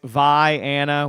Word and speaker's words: Vienna: like that in Illinois if you're from Illinois it's VI Anna whenever you take your